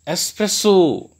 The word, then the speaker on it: espresso: But friends, there is no X in this word. So the right pronunciation of this word is espresso, espresso.